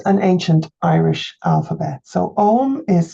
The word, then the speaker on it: Ogham: EUR Vision fans alike so what exactly is Owen this is an ancient Irish alphabet so om is spelled OG g h m in Modern Irish